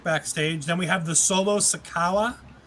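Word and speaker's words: Solo Sikoa: then we have the solo sakawa i believe is how wade barrett pronounced it i believe it's the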